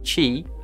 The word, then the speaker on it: Qi: and a compatible phone Qi pronounced Qi from the Chinese word meaning energy flow is the latest and